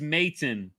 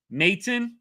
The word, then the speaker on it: Maton: Uh, it's Matton. Maton like that.